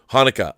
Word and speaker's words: Haneke: And then Michael, how do you pronounce it? Haneke? Michael Haneke.